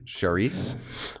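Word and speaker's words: Cerise: uh bon bon Shere is that what that's how you pronounce that c c e r i Sharice Sharice and we're only on our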